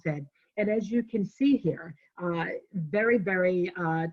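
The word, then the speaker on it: Cairns: around the office because it's pronounced cans doesn't look like that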